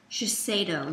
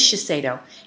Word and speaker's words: Shiseido: How do you pronounce it, Jess? Shiseido. It is Shiseido.